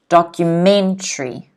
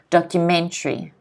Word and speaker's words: documentary: for a book and documentary notice the stress is on the me documentary can everyone repeat after me documentary documentary documentary okay a